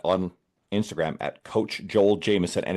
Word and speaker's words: Jamieson: Instagram at Coach Joel Jameson. And it is not spelled like the Irish whiskey. It's J A M I E S O N.